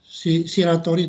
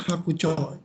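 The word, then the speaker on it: 白鳥: Yang betul adalah hakucho, jangan shiratori. Walaupun benernya adalah shiroitori, tapi hakucho yang paling betul.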